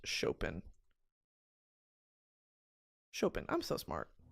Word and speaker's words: Chopin: How to pronounce Chopin. Chopin. I'm so smart. Chopin.